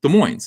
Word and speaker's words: Des Moines: How do you pronounce this? Des Moines? Des Moines, that's right.